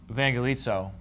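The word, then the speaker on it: εὐαγγελίζω: And in Greek, when you have u like this, you make it into a v.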